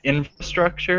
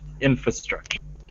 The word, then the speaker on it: infrastructure: The word infrastructure, some people say the R, infrastructure, and some people don't, infrastructure. So you can say the R or not say the R. Both are okay.